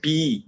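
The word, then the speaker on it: 비: B. B. See, that's another. Not P. It's B.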